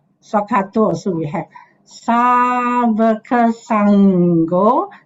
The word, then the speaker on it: Saṅgho: Savaka Saṅgho. The N with a dot on top, remember, is pronounced as NG, sound.